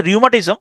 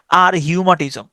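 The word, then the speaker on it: rheumatism: মানে হচ্ছে বাত বা আর এইচ এখানে কিন্তু এই উচ্চারণটা নাই আর হিউমা আর হিউমাটিজম আর হিউমাটিজম হ্যা এ উচ্চারণ হচ্ছে রিউমাটিজম তবে উচ্চারণটা আপনি এভাবে করতে পারেন আর হিউমাটিজম আচ্ছা এবার আসেন কিছু স্পেলিং কিছু নিয়ম আছে।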